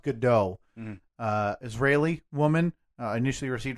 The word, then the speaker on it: Gadot: I think it's pronounced Gadot.